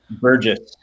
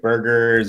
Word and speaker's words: Burgess: say your last name burgess okay yeah a lot of people will see it and they'll think like burgers or like you know